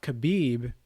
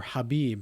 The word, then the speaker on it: Khabib: Because when he fought Khabib, or Habib, however you want to pronounce it, it was either